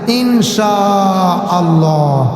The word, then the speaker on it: ইনশা আল্লাহ: মনে থাকবে ইনশাআল্লাহ এমনে না ইনশা আল্লাহ বলুন এখানে চার আলিফ পরিমাণ টান আছে ইনশা আল্লাহ মোটা করে উচ্চারণ করতে হবে সম্মানিত সুধী আমার প্রিয়